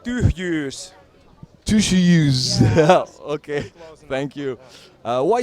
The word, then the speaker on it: Tyhjyys: I don't know how to pronounce. I'm not familiar with Finn. It is a tricky word. It's called tyhjyys.